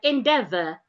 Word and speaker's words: endeavor: So letter E here ordinarily it's supposed to be articulated as E as in egg but no it is sounding E inde. So it is the E and A after the D that makes the E sound in this particular word.